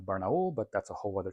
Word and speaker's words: Barnaul: have BPZ which is Barnell which actually from what I understand is pronounced more like barul but that's a whole